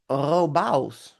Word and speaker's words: Robavs: I don't know if you can pronounce it. It's Robos. Robos.